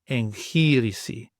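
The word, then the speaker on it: εγχείρηση: And then we have the lamachi together, lamachi, and we want the kind of ngh sound, as in the Greek example, enchirisi, enchirisi.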